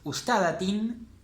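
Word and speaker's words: أستاذةٍ: Entonces, una profesora sería ustadatin. Ustadatin, todo leído, el acento en la vocal larga.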